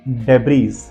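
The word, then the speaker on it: debris: में ले सकते हैं अब स्पेलिंग देखिए डेब इसको डेब नहीं पढ़ा जाता डेबी पढ़ा जाता है डी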